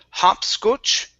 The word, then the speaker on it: hopscotch: um this one here instead of hopscotch it's hop scotch both are ah sounds hopscotch hopscotch okay very